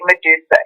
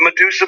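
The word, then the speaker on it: Madusa: And so I thought, okay, Medusa, M-A-D-U-S-A, not M-E-D, but M-A-D-U-S-A. Okay, that's it. They can chant it. It's 3 syllables.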